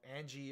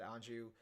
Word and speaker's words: Anju: character anju and um or Angie or anju pronouncing the Japanese they said anju and uh the character